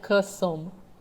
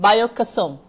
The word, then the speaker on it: Kesum: So, first of all, am I pronouncing that right? Is that Kesum? It's Yeah, we call it Kesum. Say that again? Kesum.